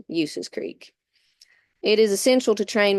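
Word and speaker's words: Ulysses Creek: Trap, Thousand Sticks, Bull Skin, Horses Creek, and Uses Creek. Now, I know that's spelled Ulyses, but I assure you it's pronounced Uses Creek.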